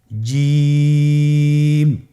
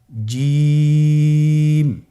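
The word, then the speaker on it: ج: আপনারা জিহ্বার মধ্যখানটা লক্ষ্য করুন এবং তার বরাবর উপরে তালুর সঙ্গে লাগান, এরপর হরফটি উচ্চারণ করুন, দেখবেন হরফটি শুদ্ধভাবে উচ্চারিত হবে। আপনারা আমার সাথে বলুন জিম।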